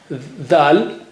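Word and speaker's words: ذ: Letter dal, the sound is the, but the name is dal.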